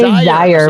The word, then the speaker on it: Zaire: It is Zaire. See, I was wrong. Yes. No, that's okay. It's like desire syllable without a D.